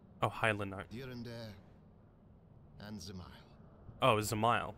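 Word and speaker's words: Dzemael: high and zile oh zile apparently yeah I guess the D is silent but four houses to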